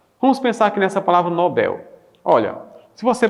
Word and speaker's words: Nobel: Então vejam, se você pronuncia papel, pastel, hotel e pincel, por que não pronunciaria Nobel? Então, já que aqui não tem acento, ou seja, o L atrai sílaba tônica para o final. Ó. Então, se o L atrai sílaba tônica, é claro que aqui o certo é Nobel em vez de Nobel, porque em língua portuguesa,